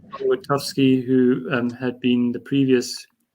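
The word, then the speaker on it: Elwertowski: Elwitowski. There we go. Yeah, Tom, there you go. Couldn't Tom think of his name. Elwitowski, who had been the previous builder of the Mac packages, and then William Kingsborough.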